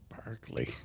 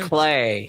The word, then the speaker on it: Barclay: Barkley. No. not Barkley. Barkley. No. It should have been, Barclay.